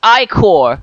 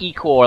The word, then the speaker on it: ichor: That's pronounced I-core, not E-core, like you've been saying.